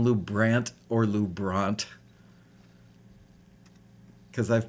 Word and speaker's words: LuBrant: or the midwestern loubrant as in ant great good to know